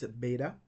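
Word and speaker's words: βῆτα: Now the second letter in the list is beta. Beta is pronounced like B in boy, and our English correspondent or English equivalent letter is B.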